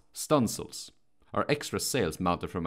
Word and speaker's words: studding sails: Studding sails, pronounced stunsails, are extra sails mounted from an additional stunsail booms that run out along the yards.